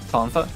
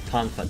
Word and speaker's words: Tonfa: Nevi takes her, how do you pronounce them again? Tonfa. Tonfa.